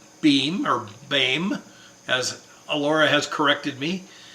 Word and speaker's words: Boehm: That's actually pronounced Bame.